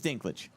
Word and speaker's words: Dinklage: how do you say it so it is Dinklage I'm saying it correct okay all right this